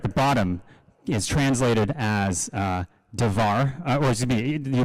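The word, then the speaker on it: דבר: And those, that word right there at the bottom is translated as davar, or excuse me, you pronounce it davar, but it can be translated as to speak, to talk to somebody.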